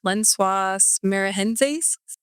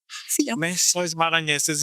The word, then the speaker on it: Lençóis Maranhenses: I was in Brazil and I was going I'm probably going to totally butcher this, but Lençóis Maranhenses. Oh, How do you say it? Lençóis Maranhenses.